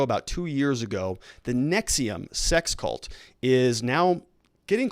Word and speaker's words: NXIVM: she was somebody who was involved in the nexium it's called the nx ivm it's pronounced nexium sex cult and she's going to be sentenced